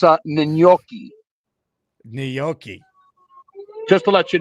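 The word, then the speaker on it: gnocchi: It's not nochi, it's n. Hold on a second. This stupid uh horn is going off here. It's a nyoki.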